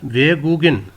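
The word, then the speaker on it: 외국인: pronounce होगा वेगिन वेगिन यह गयक जो है यह प्रोनाउंस होगा इय की जगह जाकर यहां इसकी सेकंड पोजीशन बनती है सेकंड पोजीशन पर इसकी सेकंड साउंड है जी की गाफ की तो यह प्रोनाउंस होगा वेग वेगन फनर थुंगन कहते हैं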